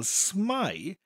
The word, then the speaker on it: smai: So, for example, smai rhymes with the English word spy. So I would visualise a spy character, such as James Bond, saying hello. Every time I wanted to say smai, the image of James